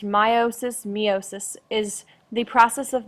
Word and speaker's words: meiosis: Alexander and this is the third and final part for our unit six chapter seven notes meiosis pronounced meiosis meiosis is the process of making sex cells